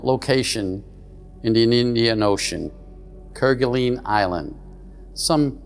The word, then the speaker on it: Kerguelen: Today's presentation is on a very remote location in the Indian Ocean, Kerguelen Island. Some pronounce it Kerguelen.